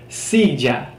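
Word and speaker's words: silla: at the word sija which is the Spanish word for a chair sija hard s te okay stupid silly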